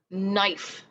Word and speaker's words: knife: a digraph here and it's k n and that k is silent what yeah sometimes we have some words that have that silent k in the beginning a word that you